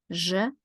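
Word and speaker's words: ж: we can find to memorize the sound pleasure that's the mnemonic that I have for you guys je is right here in the middle foreign this is Che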